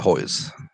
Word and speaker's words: Hoyes: mr anthony hoyles what am i pronouncing is hois how do you pronounce it anthony yeah hoy's hold on he ain't no